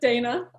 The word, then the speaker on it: Dana: It's pronounced Dana, by the way.